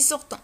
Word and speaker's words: sortent: sortent ils sortent ماشي sortent ils sortent ou un t ne prononce pas ma كتنطقش.